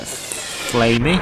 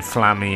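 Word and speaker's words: Flammie: So let's get flamey. I'm going to say flamey. I keep saying flammy. I'm not sure how you say it. I'm sure it's flamey anyway.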